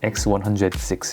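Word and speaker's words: X100VI: 읽을 때 VI라고 읽어야 하나요? 그러면 좋겠는데 그냥 6이라고 합니다. 그냥 6라고 했어요. X106 이렇게 얘기하더라고요.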